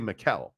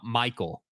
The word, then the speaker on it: Mikel: It's actually Mikel. Yeah. But people don't pronounce it correctly, so he goes by Mike. Yeah, people were rolling out Michael.